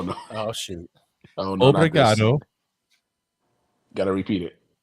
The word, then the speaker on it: Obrigado: Obrigado. Got to repeat it. Obrigado.